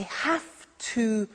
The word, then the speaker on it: have to: so an example I have to use a computer at work now did you hear my pronunciation I have to notice I don't say V I say F have have it becomes have to have to becomes in